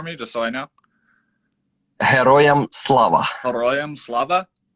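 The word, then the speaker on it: Героям слава: just so i know heroium slava yes a hero it's similar yeah yeah it's pretty similar to hero so hey black dahlia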